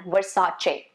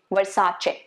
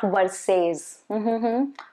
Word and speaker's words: Versace: about a few brand names which we often pronounce wrongly this one is a very popular luxury brand versace versace okay not versailles versace now this one is chanel not channel there